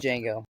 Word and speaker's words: Django: it J Django D Jango okay the D is silent yes I wouldn't have